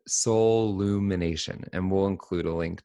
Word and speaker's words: soullumination: There's only one L, like soul. So it's SOUL, and then it's UMINATION, like soul lumination.